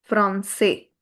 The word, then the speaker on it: français: So, here, it will be pronounced as garçon. And this is français.